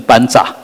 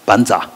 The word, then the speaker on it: vajra: 叫 vajra。Vajra 那个藏文就念成班扎啊，班扎。你如果念 Vajra，他说你念错了啊。